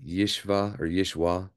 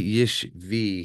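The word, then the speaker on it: ישוי: And Yishvi might be the absolute legitimate way they pronounce it in the modern Hebrew, which I have no problem with, but we want to be honest. And honestly, the wa in classical scriptural or biblical Hebrew was never a V sound.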